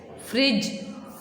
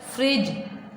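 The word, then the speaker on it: fridge: फ्रिज, फ्रिज। अब इसमें देखें डी अल्फ़ाबेट आ रहा है लेकिन उसकी आवाज़ बिल्कुल नहीं आ रही। फ्रिज, फ्रिज।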